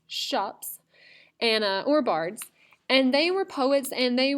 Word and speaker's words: scops: these people named shops I know it looks like scops but it's pronounced shops and or bards and